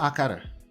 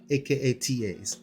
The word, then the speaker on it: akata: from the word akata it's not a qatar okay it's not okay that's the lazy way that americans pronounce stuff in general it's not akara akara sounds like akada is aka tas akata and the closest meaning